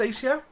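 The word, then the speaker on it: Asio: And I have checked, apparently it is pronounced ACO.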